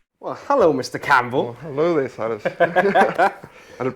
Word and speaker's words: Campbell: well hello mr campbell hello i'd have pronounced that correctly didn't i oh yeah you